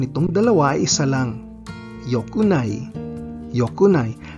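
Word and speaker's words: 良くない: Pero ang negative conjugation nitong dalawa ay isa lang, yokunai, yokunai, at hindi ikunai, mali ang ikunai. Yokunai lang ang tama para sa dalawa.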